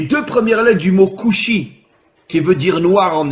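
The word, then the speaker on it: כושי: En hébreu, le mot noir se dit kushi. Alors bien sûr, vous ne connaissez pas l'hébreu, mais faites-moi confiance. Le mot kushi s'écrit en hébreu kaf vav shin yud. Kaf vav, vous savez qu'en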